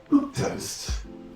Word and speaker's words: milquetoast: And our next word here is milk toast.